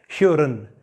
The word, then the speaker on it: hören: So the first example is hören. Hören. So here the letter R is here. It is in the middle of a word, so you should pronounce it hören.